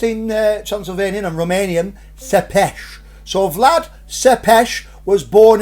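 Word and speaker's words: Țepeș: it well it's were a gentleman called vlad sepesh now that's the way you pronounce his name you know it looks like it's about tepes but it's pronounced in transylvanian and romanian sepesh so vlad sepesh was born in this house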